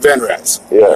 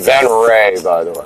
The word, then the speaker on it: Venrez: get there now so um so your dad fan rats I know that's your it's actually pronounced van right then right yeah it's a combination of my